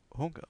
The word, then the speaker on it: Hunger: Und ich habe Hunger. On prononce le H ici. Bien.